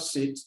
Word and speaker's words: cet: This set, please pay attention as I'm explaining. Good. C-E-T is pronounced set. It's not set, but set.